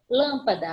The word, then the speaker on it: lâmpada: Lâmpada, acento circunflexo na antepenúltima. Se é a antepenúltima, sílaba forte, ela é proparoxítona, coluna da esquerda.